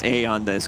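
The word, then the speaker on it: Aeon Disk: removed from the game eon disc pronounced a on this go okay smoke around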